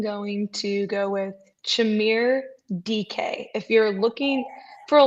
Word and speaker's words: Dike: I am going to go with Chimere DK. If you're looking for a long time, this confused me because it's not spelled that way. It's spelled DIKE, and people were talking about DK, and I was like, DK Metcalf?